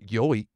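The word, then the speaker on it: 良い: Ii can also be pronounced yoi.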